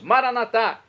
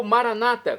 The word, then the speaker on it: Maranata: aramaico dialeto de Jesus maranat como dizemos nas católicos ou Maranata como dizem nossos irmãos separados os evangélicos aqueles que estão nas comunidades evangélicas ou protestantes não importa a pronúncia o significado é o